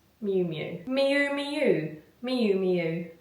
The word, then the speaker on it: Miu Miu: Miu miu miu miu pronounced like miu miu mu mu miu miu. It's not moo or mu mu.